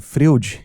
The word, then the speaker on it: Freud: Eu não sei dizer porque sentimos conforto em falar Freud, que tá mais perto da pronúncia do nome do pai da psicanálise em alemão, e talvez desconfortante falar Nietsishi.